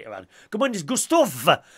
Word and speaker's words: Gustav: Good morning to Gustav. Gustav with a V.